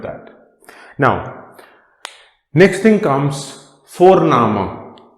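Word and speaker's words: Vorname: now next thing comes for nama v o r n the pronunciation of v is f for foul so for nama so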